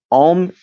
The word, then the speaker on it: Om: Om chant is because Om, yes, it is 3 syllables, but technically it is 4, because the 4th is not seen, it is silence.